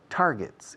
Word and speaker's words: target: I want you and me, I want us to set targets, intermediate targets. Boom, boom, se pronuncia target. G dura, no G, no target. Olvidad esa pronunciación para siempre.